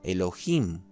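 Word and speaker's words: אֱלֹהִים: una persona también tenemos esta palabra que se pronuncia en hebreo clásico elohim o elohim después se explicará algo más sobre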